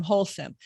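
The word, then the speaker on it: Holcim: paying attention so um wholesome you you mentioned wholesome a couple of times um is that spell h-o-h-o-l-s-u-m how's that spelled it's spelled h-o-l-c-i-m c-i-m wholesome so that's the name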